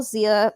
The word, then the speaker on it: Xia: If you guys want to follow me on Twitter and Instagram, it's at Zia_Land. It's spelled XIA_LAND. On Twitch as well, Zia Land XIALAND.